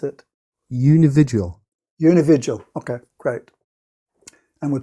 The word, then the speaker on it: unividual: How do you pronounce it? Unividual.